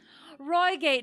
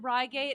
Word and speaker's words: Reigate: about yeah accents yeah Roy gate man right but then I feel like should I should I do it rygate and I'll just really really try not to slip into my terrible British accent the queen said so herself she did okay I will I'll go I'll go with rygate rygate the rygate puzzle